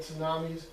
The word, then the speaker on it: tsunami: know what tsunami is you don't pronounce the T it's just the way it goes all right it's just